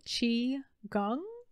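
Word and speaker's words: qigong: or that emotion there is another thing called chi gung it's spelled q-i g-o-n-g and that practice typically combines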